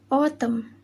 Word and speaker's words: autumn: The letter N. Rule: N is not pronounced when it comes after M at the end of a word. Example: autumn, hymn, column, solemn, and dam.